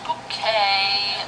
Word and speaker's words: bouquet: It's bouquet, B-U-C-K-E-T, bouquet. The accent on the second syllable.